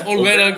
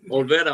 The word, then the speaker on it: Olvera: Off to your left, we got Olvera right there in the middle. Did I pronounce that right? That's Olvera. Close enough, man. It's all right. Olvera.